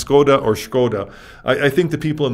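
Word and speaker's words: Škoda: you're pronouncing it the way you read it is skoda right right at s-k-o-d-a except in check there's a little a hot check which is a little check above the s which turns the s into a shi so the word is actually skoda which is also the word for shame in check yeah it's a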